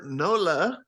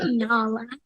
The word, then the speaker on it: Nala: You were Nola. For those, is that how you say it? Nala. Nala.